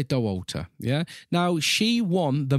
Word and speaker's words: Dauwalter: was Courtney de Walter would you say oh you would say her name is Liam yeah I think so Walter yeah doll Walter will say doh altar yeah now she won